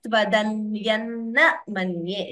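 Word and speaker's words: त्वदन्यं न मन्ये: So Tvadanyam, this Anuswara combined by Na. We combine the Sandhi and chant it as Tvadanyanna Manye.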